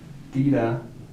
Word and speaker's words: tira: But if we say this word by itself, tira, the emphasis is all the way back here on the I.